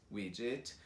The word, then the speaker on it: widget: Então, quando você vê o D e o G together, continua pronunciando como J. E daí só coloca o T no final. Então, budget, widget and gadget.